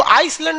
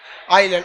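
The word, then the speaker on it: island: आइलैंड में ना S silent रहता है। इसको आइसलैंड नहीं पढ़िएगा, आइलैंड।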